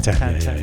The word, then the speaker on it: Tintin: I think in French It's called Tantan.